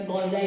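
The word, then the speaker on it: Golgi: और इंग्लिश में आपका गोलजी बॉडी या गोलगाई बॉडी। इस तरह से जो है इसको प्रोनाउंसिएशन इसकी है यहां पे।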